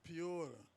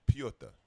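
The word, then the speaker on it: Petr: thought it the was Piotr. it's Piota. Piotr. Piota. Listen, yo, it's not even enough letters and syllables for that to be your name. It's Piota.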